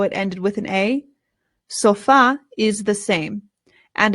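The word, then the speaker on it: sofá: o and we say sofa but in Spanish the stress goes on the A and we know that because of the accent right here so it becomes el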